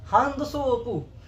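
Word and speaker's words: ハンドソープ: ठीक है, तो वो बोलेंगे hand सोपू exactly hand सोपू।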